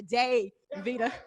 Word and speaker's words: Davida: okay if you know you have to pronounce the day veda right okay right um